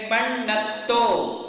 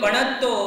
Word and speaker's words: पन्नतो: तो क्या कहेंगे? पन्नतो। बोलिए। कई लोग पणत्तो पणत्तो पणत्तो ऐसा बोल देते हैं, तो वो गलत हो गया, वहां हमारे मार्क्स कम हो जाते हैं।